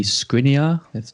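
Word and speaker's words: Škriniar: the other slacking player to consider might be scrinia that's how you pronounce it uh i mean he is basically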